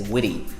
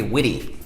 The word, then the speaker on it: witty: Again, they're pronouncing the T as like a D. For example, in the American accent, they might say witty. "Oh, he's pretty witty."